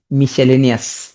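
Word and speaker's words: miscellaneous: হ্যাঁ, মিসেলেনিয়াস commonly ভুল হয়, উচ্চারণ করবা কি মিস সেল এনি ও আস, মিসেলেনিয়াস, মিস সেল এনি ও আস, মিসেলেনিয়াস, মিস সেল এনি ও আস, মিসেলেনিয়াস।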